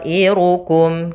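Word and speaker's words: طائركم: Maka to yang awalnya 2 harokat berubah menjadi 4 harokat disebabkan karena adanya hamzah. Maka panjangnya adalah 4 harokat. Bagaimana cara membacanya? Ta'irukum, kita panjangkan.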